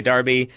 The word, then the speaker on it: derby: it will say like British Darby America and Derby yeah it spells it